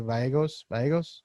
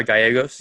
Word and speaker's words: Gallegos: gia uh how do you say that gia vallegos uh gallegos gallegos yeah so he's there giovanni gallegos giovanni